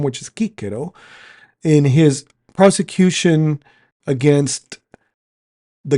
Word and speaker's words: Cicero: I just pronounced that in the classical form, which is Cicero, in his prosecution against